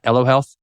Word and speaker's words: Elo Health: I learned about what you are doing at L Health am I pronouncing that right L Health yep that's great l means um life in